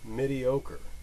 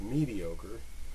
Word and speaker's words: Midiocre: using a program called mediocre I don't know if it's supposed to be pronounced mediocre but it's midi because it's midi format and all you use